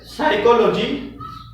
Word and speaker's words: psychology: letter P sign language P silent when you find P before s y c h when you find letter P before combination of four letters orderly as P plus S Plus y plus C plus h then letter P will be silent as psychology psychologist it is okay now